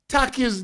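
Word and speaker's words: Takyi: And Nikki, Taki's name is not spelled T-A-C-K-Y. It's spelled T-A-K-Y-I.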